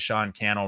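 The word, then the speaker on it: Sean Cannell: uh my name is Sean canel rhymes with YouTube channel founder of think media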